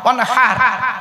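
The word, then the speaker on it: وانحر: ওয়ানহার, এই গলার ভেতর থেকে এটা উচ্চারণ করবে, ফাসাল্লি লিরাব্বিকা ওয়ানহার।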